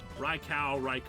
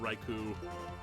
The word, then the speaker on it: Raikou: Raikou, Raikou. Big cat thing. Big cat. It's if it's the Japanese pronunciation, it'd be Ko.